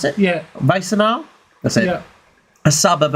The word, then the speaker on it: Wassenaar: I think so I pronounce it. Yeah. Wassenaar?